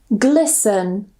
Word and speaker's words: glisten: So the first rule, normally if we have the ending S-T-E-N, we normally don't pronounce the T. So we just pronounce it sun, sun. For example, fasten, or fasten, glisten, listen, moisten.